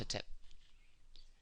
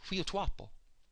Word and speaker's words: Hetep: For example, the word Hetep is not actually pronounced Hetep. It's pronounced Huyotuapo. Huyotuapo.